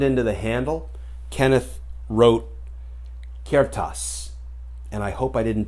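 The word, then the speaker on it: ceartas: the handle kenneth wrote kertas and i hope i didn't do violence to the gaelic c-e-a-r-t-a-s and i'm told it's pronounced kiertas translated into english kertas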